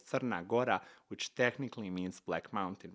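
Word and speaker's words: Crna Gora: black so it's actually in my language called sarnagora which technically means Black Mountain right they just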